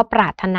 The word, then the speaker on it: ปรารถนา: หรือ ยัง คำ ว่า ปรารถนา นะ คะ ก็ คือ มี เสียง ร เรือ ก่อน หน้า เสียง ถ ถุง แต่ ว่า ร เรือ นั้น น่ะ ไม่ ออก เสียง นะ คะ หรือ อย่าง